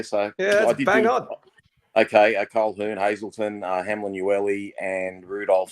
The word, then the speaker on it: Colquhoun: I'm not sure how you pronounce his name. Colquhoun, Hazelton. That's Hamlin, it, Colquhoun. Well done. Well done. Okay, yeah. So yeah, bang on. Okay, Colquhoun, Hazelton, Hamlin, Ueli, and Rudolph.